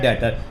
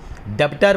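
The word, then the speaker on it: debtor: क्या कहलाता है, डेटर। यहाँ बेटा बी साइलेंट होता है, डेप्टर बोलते हैं, डेप्टर नहीं बोल के क्या बोलेंगे, डेटर बोलेंगे, जिसको कि सामान उधार पे बेचा।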